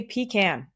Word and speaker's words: pecan: And yes, I say pecan because that's how it's pronounced. And I don't think I'm alone in that. I'm pretty sure pecan is a southern thing.